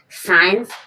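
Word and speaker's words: science: साइंस, साइंस means विज्ञान। यहाँ पर एस के बाद सी साइलेंट है, साइंस, साइंस मीन्स विज्ञान।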